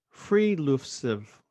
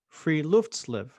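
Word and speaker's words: friluftsliv: phrase that is uh from norway and it's pronounced freelusive free free loofs live f-r-i-l-u-f-t-s-l-i-v free luftslive and this is an uh term describing open-air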